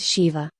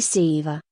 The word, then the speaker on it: Shiva: of si Jin ship for instance Shiva is pronounced Shiva not Siva but generally SH is used in the words